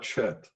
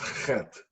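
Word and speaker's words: חטא: It's not chet, but chet. It's a guttural sound. Hard for English speakers to pronounce unless they are familiar with the German Achtung or the Yiddish chutzpah. The convention has evolved to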